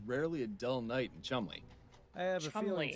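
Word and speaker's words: Cholmondeley: I would not have thought that the way to pronounce that is Chumley.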